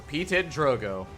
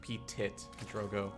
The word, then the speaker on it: PtitDrogo: So he says like anything that doesn't involve saying like PtitDrogo. He's like petite, petits.